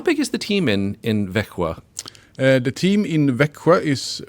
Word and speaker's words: Växjö: It's pronounced how? Växjö. Växjö, but it's Vaxjo, right?